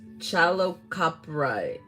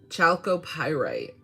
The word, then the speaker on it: chalcopyrite: all about because i know the name is chalocoprite how do you say that chalcopyrite you heard her this is great for all